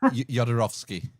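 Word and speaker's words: Jodorowsky: Yodarovski.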